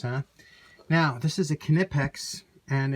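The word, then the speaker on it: Knipex: now this is a kinetics and it's uh some people don't pronounce the K but they do on their on their videos and stuff so I'll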